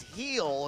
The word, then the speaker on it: Gil: Uh, it's not Gil, it's Heel is how you pronounce the last name.